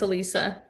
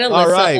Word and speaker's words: Elisa: So, Am I saying it right? Yeah, it's Elisa. I get Alyssa all the time.